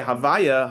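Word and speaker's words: הוי״ה: We say Havaya. Havaya is similar letters, but it's a different pronunciation.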